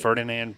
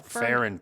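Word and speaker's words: Ferran: Ferdinand Park? No, Farron Park.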